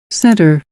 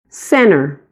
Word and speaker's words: center: Esta assimilação no sotaque americano, então, ocorrerá sempre que a letrinha T estiver depois de um N e antes de uma vogal. Eu vou mostrar para você a leitura destas palavras que estão aqui como exemplo das duas maneiras, com a primeira pessoa pronunciando o T e a segunda pessoa assimilando o T ao som do N.